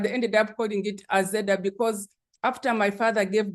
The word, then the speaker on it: Azeda: being raised they named they pronounced it in the language like the western language kinyang which is aa so I became a zeda like that but it was very